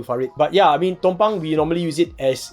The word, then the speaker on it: tumpang: But he says it's actually TUM. Tumpang. Yeah, it's not Tam lah.